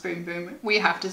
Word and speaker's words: Bum Bum: we use it because even though we both know it's pronounced boom boom we have to say bum bum every time it's just